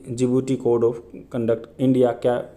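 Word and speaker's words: Djibouti: 45th question देखते हैं, with reference to दी जिबूटी, इसको डी नहीं, डी साइलेंट होता है।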